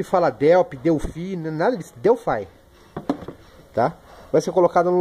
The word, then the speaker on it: Delphi: Delphi, galera, que é o modo correto para se pronunciar isso aqui, tá? Tem gente que fala Delphi, Delphi, nada disso. Delphi.